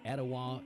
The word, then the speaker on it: Etowah: minute I'm from Cleveland Tennessee and it's pronounced Ocoee Etowah and hawasi Adam Denver asoe hawasi itoa I'm